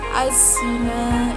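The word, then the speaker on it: الزِّنَا: Kemudian az-zina, ini dinamakan al-syamsiyah karena ada huruf al bertemu dengan za, maka al-nya di sini tidak terbaca, namun langsung menuju ke za. Az-zina, bukan al-zina, namun az-zina.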